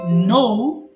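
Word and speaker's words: know: তাহলে একটু বলেন তো দেখি, নো জানা। নো, আমরা যে নো বলি নো না, নৌকার নো বলবেন সঠিক উচ্চারণ।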